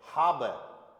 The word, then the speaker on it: habe: One more example, HABE, एच शुरुआत में आएगा तो बोला जाएगा, अदरवाइज साइलेंट। ए का आ, बी का बे, और ई किसी वर्ड के एंड में आ जाएगा तो ए, हाब। क्या साउंड हुआ?